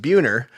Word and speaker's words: Buehner: when I'm out there my last name is pronounced buer uh for obvious reasons